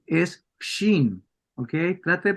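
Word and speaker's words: שין: sh ok No es chin es Shin Okay trata de pronunciarlo ahí no es chin es bien espeso bien espeso bien grave bien grueso Sí entonces aquí cierto la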